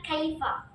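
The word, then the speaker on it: كيف: Kalau fusha pasti mengucapkan kaifa. Tapi di setiap negara itu pasti memiliki berbagai macam lahjah dari satu kata doang, kaifa. Ada yang mengucapkan kaifa, ada yang mengucapkan kif, ada yang bilang kif.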